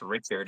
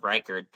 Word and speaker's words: Reichard: like Will Reichard, but it's like, Yeah, it's like Will Reichard, but it's oh, pronounced Richard instead of Reichard.